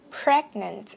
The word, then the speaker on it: pregnant: Pregnant, cho âm 1 cho mình bật chữ T ra.